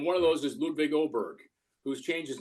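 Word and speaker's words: Åberg: a name it's spelled Aber Berg but it's pronounced oberg he's from Sweden um somehow Hockey didn't get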